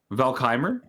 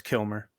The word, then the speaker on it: Kilmer: Valkyr. No, it's Kilmer. Oh, it's Kilmer. I thought it was Val Kilmer.